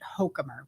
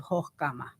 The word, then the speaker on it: Hochkammer: name it i i what is the true pronunciation so like it's so the distant distant relatives in germany pronounce it something to the effect of hokkama right um my father